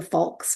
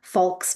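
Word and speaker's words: falx: membrane, the one layer, and it's called the folks membrane.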